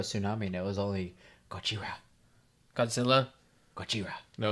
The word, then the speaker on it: Gojira: It's Gojira. It's the actual Gojira.